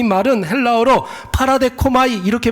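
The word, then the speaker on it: παραδέχομαι: 여러분, 이 영접받다, 영접하다, 이 말은 헬라어로 파라데코마이 이렇게 발음을 합니다.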